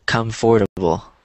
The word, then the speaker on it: comfortable: Now that word sounds different than it looks, because it looks like it would be pronounced comfortable, but it's not.